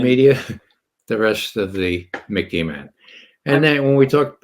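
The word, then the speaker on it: MICIMATT: Now it's become the Mickey Mat. Think of Mickey Mouse. It sort of rhymes with Mickey Mouse, but it's the Mickey Mat.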